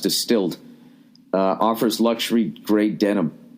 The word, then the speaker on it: DSTLD: singer right all right distilled pronounced distilled uh offers luxury grade denim at an affordable